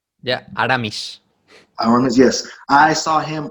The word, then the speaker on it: Aramis: I believe Armis, is that how you pronounce his name? Yeah, Aramis.